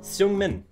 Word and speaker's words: Seungmin: Seungmin in the building. Oh, I pronounced his name really good.